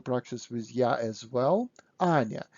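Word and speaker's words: Аня: times this name anya pronounce it loudly yeah is important to the end anya not anna anya okay and when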